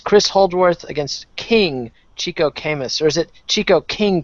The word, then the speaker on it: Camus: Camu.